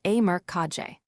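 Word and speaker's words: E. Merck KG: Rather than endlessly dividing the company among descendants, they centralized control through a family holding structure known as e merg pronounced a merkage.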